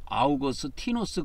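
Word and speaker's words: Augustinus: 그래서 이제 그거를 라틴어식으로 발음하면 아우구스티누스 그래요.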